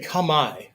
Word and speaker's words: kamae: If you say kama like c o m e hyphen e, right? Like come and I you're way closer than the butchery that goes on, right?